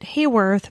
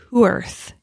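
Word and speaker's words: Heworth: from in the UK I pronounced it Heyworth but it's who Earth okay yeah and like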